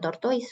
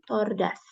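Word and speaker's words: tortoise: Ini cara bacanya apa bukan tortois walaupun tulisannya tortois cara bacanya tordas Ya coba dibaca ulang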